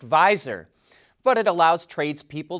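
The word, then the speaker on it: Viizr: launched a new service called v i i zr which we think is pronounced visor but it allows trades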